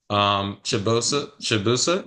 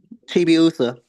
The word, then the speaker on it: Chibiusa: Shibusa. Yeah, I remember that one. So that's definitely pronounce it. Sorry. Chibiusa. Chibiusa, TV. my apology.